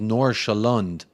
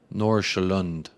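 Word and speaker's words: Nordsjælland: then see Sherman says nor shalonde nor shalonde is how you say that that team name from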